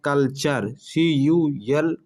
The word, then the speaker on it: culture: ठीक है, जैसे फ्यूचर, देखिए टी के बाद URE आ रहा है, इस वजह से यहाँ चर का उच्चारण आ रहा है, फ्यूचर। इसी प्रकार है कल्चर, CULTURE, टी के बाद क्या आ रहा है,